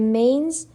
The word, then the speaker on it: manes: The manes, pronounced approximately mah-nays, were the spirits of the dead.